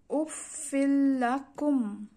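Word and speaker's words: أف لكم: লাম জবল্লা কাফ মিম পেশ কুম, উচ্চারণটি এভাবে হবে উফিল্লাকুম।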